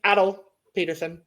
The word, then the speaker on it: Atle Pettersen: I learned how to pronounce it. It's Atle Pettersen or Pettersen.